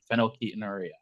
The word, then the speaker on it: phenylketonuria: You got to know how to pronounce it first, though. So yeah, listen back a few times. Phenylketonuria.